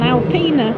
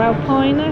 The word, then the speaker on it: Alpina: Well, this one's an Alpina, or Alpina, however you want to pronounce it.